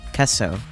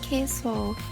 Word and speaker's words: queso: oh kesso ESO kesso like yes Spanish oh Spanish for cheese I always said it like queso oh K Fresco okay it's way more of a short e okay mhm okay filing